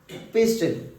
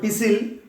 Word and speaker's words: pistil: Gynoecium is also known as carpel, pistil, carpel, pistil. Actually it is called pistil, T silent letter, pistil or pistil.